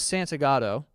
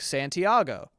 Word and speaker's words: Santagato: My last name is Santagato, and if you just look at the name, you go, that's how you say it. But people, for whatever reason, are like Santiago, because they're not looking at the word.